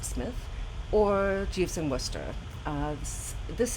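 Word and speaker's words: Psmith: smith books which are spelled p smith but pronounced smith or jeeves in worcester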